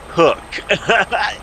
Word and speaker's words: Koch: The favorite line, the first comment out the gate that I love is, and it's pronounced hook.